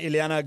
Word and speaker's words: Ileana: I totally mispronounced your name because the thing was far away from me and I was calling you Yelena. I couldn't see it right. Ileana, good to have you here.